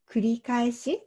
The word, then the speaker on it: 繰り返し: これは繰り返しと読みます。